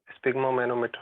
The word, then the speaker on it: sphygmomanometer: how to pronounce that SPHY, ma'am? Sphygmomanometer or?